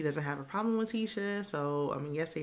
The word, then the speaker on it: Tisha: Like, I know it's spelled Tish, but it's pronounced like Tisha, like T, like that I is supposed to sound like an E, like Tisha.